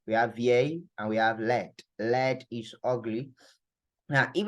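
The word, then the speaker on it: laid: say that means that there is no e at the back of ugly for men that's why we are not pronouncing the D right Le all right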